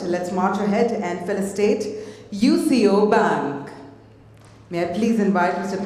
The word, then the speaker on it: UCO Bank: My apologies, I'll pronounce it as UCO Bank.